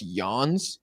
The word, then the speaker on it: Jens: It's pronounced Yawns.